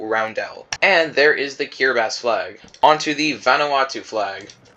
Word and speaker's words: Kiribati: I know it's spelled Kiribati, but it's pronounced Kiribati, so yeah.